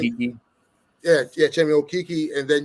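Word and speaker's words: Okeke: Your 3 is Chemi Okoke, right? Is that how you say his name? Okiki.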